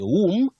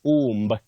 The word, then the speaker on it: womb: Lastly, Sandra Atieno, you say womb, not womb. Many people say womb, but that B after M is silent.